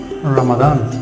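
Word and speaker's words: Ramadan: What is your feeling regarding রমাদান। না, বাংলায় আমরা রমজান বললেও ইংলিশে কিন্তু এটা উচ্চারণটা এটাই, রমাদান, ঠিক আছে?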